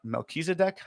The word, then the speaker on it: Melchizedek: milky civic uh priesthood or melchizedek i think is how you say it in english but the melchizedek uh priesthood